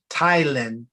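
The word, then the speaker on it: ptyalin: And Thailand is actually spelled with a P. It's like PT, YLIAN, I believe. And that is just simple. It's very similar to the pepsin. And some people will say potato, but the P is silent.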